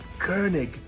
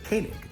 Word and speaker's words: Koenig: people pronounce it uh Koenig they say Walter Koenig so they pronounce it incorrectly the correct way that you would pronounce it in Germany is kernig and it means king